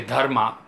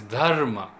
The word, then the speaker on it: Dharma: I can think of this Dharma we say Dharma Dharma or something like that but the way it is pronounced in Sanskrit is Dharma and Dharma has a